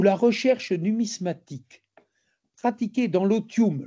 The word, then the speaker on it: otium: Je dirais que la GOA vit dans un monde où la recherche numismatique pratiquée dans l'otium, l'osium si je prononce à la française, non pas le farniante mais l'otium, l'osium, c'est le loisir studieux et culturel.